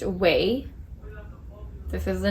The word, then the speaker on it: OUAI: founder of the brand and her brand is pronounced way this is the name o u a i